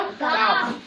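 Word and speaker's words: calf: काफ। और इसमें साइलेंट क्या है? एल। क्यों? क्योंकि वो एफ के पहले आया है।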